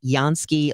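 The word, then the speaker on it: Jansky: They can do all of that and more for you at Yansky Law. Uh it's spelled with a J because it's like Janssky.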